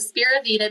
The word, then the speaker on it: Speravita: And Spira Vita means hope for life. It is spelled SPERAVITA.